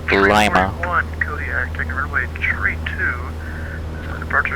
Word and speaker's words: Lima: If you live in Ohio, it's pronounced Lima.